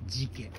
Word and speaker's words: 寺家: というところです寺に家と書いて事件これの橋ですホタル